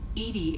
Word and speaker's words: EDI: are you named edie edie is the phonetic pronunciation of edi that is an acronym for enhanced defense intelligence let's discuss something else